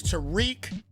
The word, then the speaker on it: Tariq: You pronounce his name correctly. That is Tariq cheat code woolen.